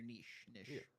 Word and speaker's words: niche: on what your Nish Niche however you properly pronounce it you you gotta find your niche vanish I don't know you're asking the wrong